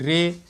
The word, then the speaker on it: ray: रा हो रहा है, AY का प्रोनाउंस क्या होगा, ए, तो क्या पढ़ेंगे, रे पढ़ेंगे।